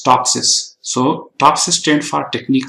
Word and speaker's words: TOPSIS: similarity to Ideal solution in short we just pronounce is topsis so topsis stand for